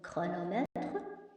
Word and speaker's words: chronomètre: Mais parfois, la lettre CH font aussi le son que dans certains mots comme chronomètre, orchestre, technologie, écho.